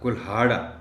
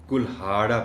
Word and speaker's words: کلہاڑا: ہے۔ اچانک اس کا کلہاڑا، یہ آپ نے کلہاڑا پڑھنا ہے، کلہاڑا نہیں پڑھ سکتے اس کو آپ۔ کلہاڑا